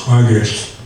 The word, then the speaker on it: Kwakiutl: Buckwheat on the west coast of British Columbia among the Kwakiutl people, which is spelled Kwakiutl, but pronounced Kwagist, who speak a language, Kwakwakawak, and it's a west coast language, it's not Salish.